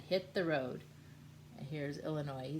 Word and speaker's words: Illinois: And here's Illinois. He says, "Yes, my name is Illinois, and I need one airline ticket. To Illinois. No, the S is silent.